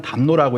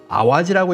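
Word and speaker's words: 淡路: 그래서 담로라는 한자는 놔두지만 읽을 때는 담로라고 읽지 않고 아와지라고 읽으라고 강요한 것으로 추정이 됩니다.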